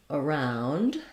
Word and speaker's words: around: So again, I would build this word from the word round. That's the stressed syllable. The is short and unstressed. It's Vowel Schwa, which looks like this. You'll see the stress marker. And then the vowel in round is the ow diphthong.